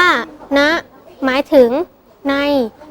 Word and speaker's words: ณ: ใจ ความ รู้ ด้วย คำ ว่า นะ อ่าน ว่า นะ หมาย ถึง ใน ที่